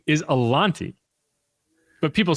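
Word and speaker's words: Alontae: people don't realize Alante Alante Taylor's name is pronounced Alante. Now everyone says Alante and he doesn't care and it's not worth correcting people.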